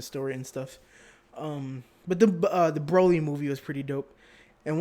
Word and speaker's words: Broly: And one thing I didn't know, I thought it was Brawly. And then Dylan's brother, Steven, my fellow Trash Talk City co-host, he goes, it's Broly, man. You say it right, it's Broly. So I was corrected after 20-something years that it's Broly.